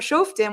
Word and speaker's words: Shoftim: us but from safer shoftim which is spelled wrong in this parenthesis i'm sorry it says short team it's to say shotem but from safer shoftim